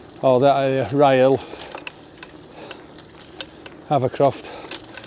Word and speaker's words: Havercroft: So come out at Newstead, or that area, Rye Hill, Havercroft. Sometimes pronounced Chavercroft.